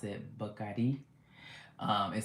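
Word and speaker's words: Bacardí: We went to um they pronounced Bardi. We've been pronouncing it wrong. They pronounce it bakadi.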